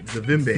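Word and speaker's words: Zavimbi: Zavimbe.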